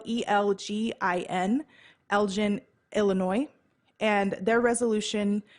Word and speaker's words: Elgin: It's spelled E-L-G-I-N, Elgin, Illinois.